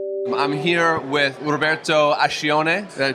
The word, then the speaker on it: Roberto Ascione: I'm here with Roberto Ascione. Did I pronounce that correctly?